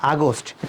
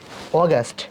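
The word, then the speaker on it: August: মে তারপর June July not আগস্ট it Willoughby অগস্ট it Willoughby অগস্ট তারপর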